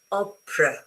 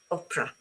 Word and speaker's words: opera: Because the last one, this one, is not this, is a schwa as in above. As in, so I go opera, not opera. Okay, opera.